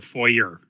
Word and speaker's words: foyer: Move as a group into the foyer. Yeah. So as the group moves into the foyer, as the French pronounce it, two people can go side by each.